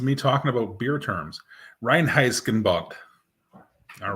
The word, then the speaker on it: Reinheitsgebot: Reinheitsgebot. All right, that's a word that I learned. Well, I learned how to pronounce properly.